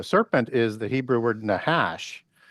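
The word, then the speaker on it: נחש: The serpent is the Hebrew word nahash. N a c h a sh and pronounced nahash.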